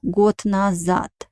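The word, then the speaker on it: год: moment about pronunciation uh the words got and at the end i uh not only yeah of course we write a letter the letter is a voiced consonant in russian language but at the end of the word it becomes voiceless so we pronounce it like because it has a weak position that's why i pronounce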